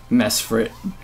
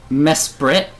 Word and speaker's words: Mesprit: mess for it so how do you say it then mess brit desperate oh okay yeah it sounds right you didn't even know how to pronounce it no i always called it mess for it i was talking it